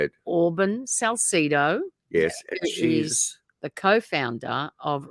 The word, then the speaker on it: Auburn Salcedo: very generous with her time how do we pronounce that name please you say it Auburn Salcido yes she's the co-founder of rando Nautica and